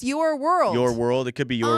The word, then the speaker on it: URWLD: Oh, but it's pronounced Your World.